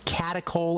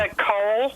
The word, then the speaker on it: catechol: Catechol estrogens. Ask your doctor if they know about those, and I'll spell that for you. Catechol. Catechol.